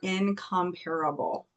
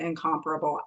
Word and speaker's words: incomparable: I'm going to mispronounce this word on purpose. You are incomparable. I know you're supposed to pronounce it incomparable. I think that's dumb. You are incomparable.